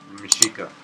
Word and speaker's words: Mexica: Meshika. The Nahuatl pronunciation.